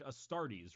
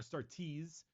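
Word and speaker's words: Astartes: Adept this uh it's like a startis right which are Space Marines that's a-s-t-a-r-t-e-s I think I start the yeah start tease Tes this is custodies oh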